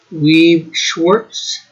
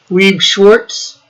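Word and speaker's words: Weiß Schwarz: thing is it's called weave schwartz or schwartz scorch something like that and yes it has another name i felt loved you said it right the first time weeb schwartz that's like one ikea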